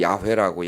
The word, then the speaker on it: 야훼: 자음만 읽으면 이제 원래 야훼라고, 야훼. 원래는 여호와라는 건 없습니다.